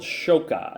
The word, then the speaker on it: Xoca: think you're going to love so it's called shoka and it's pronounced it's pronounced shoka but it's spelled x-o-c-a the original fruit of